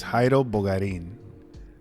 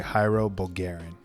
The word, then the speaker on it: Jairo Bogarín: on pronunciation Jairo does my name is Heidel bulgarin but like when growing up in English I would say Hiro Bulgarian that's cool yeah sound